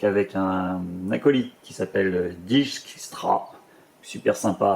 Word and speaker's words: Dijkstra: Et du coup, Philippa, qui est donc avec un acolyte qui s'appelle Dijkstra, super sympa à prononcer aussi en français, Dijkstra.